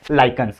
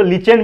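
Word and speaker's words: lichens: गया है, उसको हम लोग बोलते हैं लाइकेंस। क्या कहते हैं दोस्तों? लाइकेंस कहते हैं। अब बहुत सारे लोग उसको लीचेन भी बोलते हैं, लेकिन लीचेन मेरे हिसाब से अच्छा नहीं लगता है बोलना। प्रोनाउंसिएशन आप लाइकेंस बोलो तो ज्यादा बेटर है।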